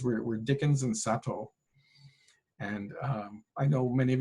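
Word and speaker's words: Satow: And I know many of you probably, when you hear Sato, you're going to say, well, no, it sounds like a Japanese guy. No, actually, he was an Englishman of German ancestry. His name is spelled S-A-T-O-W.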